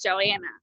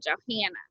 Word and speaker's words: Johanna: a soft a but down here it's joanna or johanna and i just that drives me nuts and then people leave the hl and there's an age and you need to pronounce it and so that drove